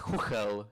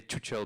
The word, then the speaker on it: Chuchel: It's pronounced CHUCHEL in Czech, but nobody can really pronounce CHUCHEL except for Czech people. So we're happy when people say CHUCHEL because it sounds much funnier.